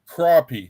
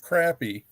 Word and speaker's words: crappie: call them crappy crappie crappie not crappy yeah it's spelled crappy but they pronounce it crappy because they don't know the difference between the sound of an Hey, and the sound of an O.